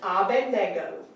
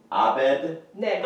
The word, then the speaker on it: Abednego: We always say, Yeah, everybody says Abednego Everybody But says the N, Bendigo.